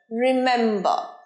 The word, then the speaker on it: remember: আজকের ভিডিওর last word মনে রাখা, remember, remember নয়, রিটা ছোট, মেমটা বড় উচ্চারণ হবে, রিমেম্বার, রিমেম্বার।